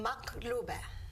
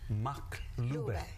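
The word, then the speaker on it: مقلوبة: We call it maklube. Oh, how do you pronounce it? Maklube. Maklube.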